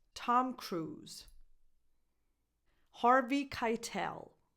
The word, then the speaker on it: Harvey: Harvey Keitel. Harvey, like heart.